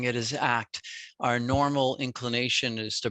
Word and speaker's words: ACT: to pronounce it as a c t like c cbt or dbt but it's pronounced act for a reason because it is an active form of therapy and living great thank